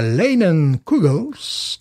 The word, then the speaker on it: Leinenkugel's: même euh c'est la linon COGLES red lager moi je prononce à l'anglaise puisqu'ils sont quand même